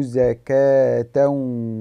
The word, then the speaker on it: زكاة: قال تعالى: فأردنا أن يبدلهما ربهما خيرا منه زكاة وأقرب رحما، زكاة وأقرب رحما. أريدك أن تأخذ بالك عزيزي الطالب من كلمة زكاة، كيف كتبت وكيف نطقت؟ كتبت بالخط العثماني زكاة.